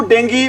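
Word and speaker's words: Dengue: A large number of people have fallen victim to डेंगू fever. ध्यान रखना, इसको बहुत सारे बच्चे हैं क्या बोलते हैं भी, डेंगू बोलते हैं।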